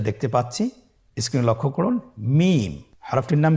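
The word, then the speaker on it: ميم: মিম। হরফটির নাম কি? মিম। মিম হরফটি উচ্চারণের ক্ষেত্রে অবশ্যই বারিক হবে, পাতলা হবে এবং তিন আলিফ টেনে উচ্চারণ করতে হবে। আমার সাথে আরেকবার চেষ্টা করুন। মিম।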